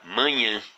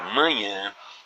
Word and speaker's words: manhã: Repare que na palavra manhã, nós empregamos o diacrítico de nasalização, ou tio, apenas para indicar que esse A, que essa vogal A aqui, da segunda sílaba, deve ser pronunciado com som fechado.